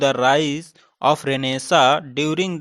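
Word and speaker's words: Renaissance: ये जो history of literature, इसको कई लोग रेनेसेंस भी पढ़ते हैं, तो इसका एक्चुअल जो आप प्रोनाउंसिएशन देखेंगे वो क्या है, रेनेसा है।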